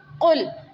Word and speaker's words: قل: تھا، قل کہہ دیجئے، قل قاف موٹا ہے، نقطوں والا قاف موٹا قاف ہوتا ہے، قل کہہ دیجئے، ایک ہوتا